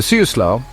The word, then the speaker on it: Siuslaw: The Siuslaw, pronounced Siuslaw, begins in the Coast Range and flows 109 miles to the ocean at Florence.